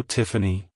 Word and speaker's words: Tiffany: as Tiffany Tiffany Tiffany to pronounce it correctly emphasize the first syllable Tiff and then the second syllable an a like hello Tiffany goodbye Tiffany if you